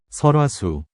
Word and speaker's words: 설화수: Bacanya gimana sih? Salwashu, Sulwashu, Sulwashu. Meanwhile, 설화수, 설화수.